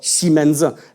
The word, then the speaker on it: 西门子: I'm pronouncing the character, which is called Ximena. And if you have some ideas, you could say, that sounds actually like Siemens.